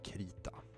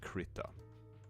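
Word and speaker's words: Krita: things about is called K I am pronouncing it K because I'm pretty sure that this is Swedish I would guess that most people who found this software call it like crita or something you probably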